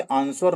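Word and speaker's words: answer: आप कभी इसे आंसर नहीं बोलते। आप क्या बोलते हैं? आंसर। ठीक? तो डब्ल्यू यहां पे नहीं उच्चारण हो रहा है। तो डब्ल्यू यहां पे साइलेंट लेटर होता है।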